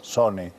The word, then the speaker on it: sone: burguesas, per las finiestras sone, con la E paragógica del final, porque todo rimaba de una manera asonante, pero con la sílaba trabada que añadía una E, sone, en vez de son.